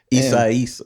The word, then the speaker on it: Isaias: It was like during Hurricane Isaias, I think is how you pronounce it. Isaias.